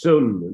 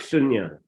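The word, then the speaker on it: śūnya: Yeah, just sun. They don't say the ya. Sun. Yeah. But they write sunya.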